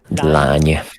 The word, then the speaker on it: lány: Lány. Yeah, lány. Lány. The nya is another interesting one.